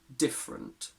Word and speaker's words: different: person and their accent in words like separate favorite and different we basically always remove the schwa i can't remember ever